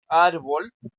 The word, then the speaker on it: árbol: lleve til Entonces decimos por ejemplo árbol árbol es escena eh grave porque es la sílaba ar que suena más fuerte.